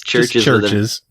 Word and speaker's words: Chvrches: It's Churches. With a V instead of a U.